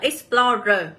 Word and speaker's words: explorer: là âm Y ấy, thì trọng âm sẽ luôn nhận vào âm đằng sau nha mọi người nhá.